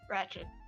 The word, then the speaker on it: Ratchet: is a that is a racket and clank thing ratchet yes i know i know i know i know okay i know i'm aware i'm aware i'm aware i was saying it wrong on purpose i like video games